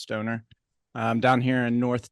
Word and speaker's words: Stohner: There's a silent H in there, even though it's pronounced Stoner.